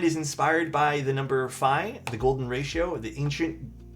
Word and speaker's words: Phi: So, the 565 um fi rhymes with fry a little bit.